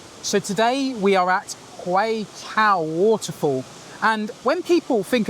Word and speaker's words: Huay Keaw: and doing my research, the pronunciation Huay Keaw made me think of Newcastle, Huay the lads.